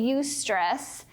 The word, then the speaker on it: eustress: of is you know is this a youth stress or a distress and so things that would be you stress that's spelled this way all right so some